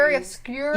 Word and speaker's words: chiaroscuro: Chiaroscuro. Yeah, that's actually how you say it.